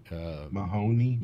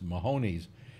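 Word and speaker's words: Mahomes: Mahoney. Mahoney's. Is it rhymes with cojones, I guess, or something like that? He held a party, and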